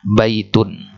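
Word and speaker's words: بيتٌ: Nah, contohnya misalkan tadi kita katakan baitun. Nulisnya begini. Nah, nulisnya begini, tapi pengucapannya seolah-olah seperti ini. Baitun, ya kan?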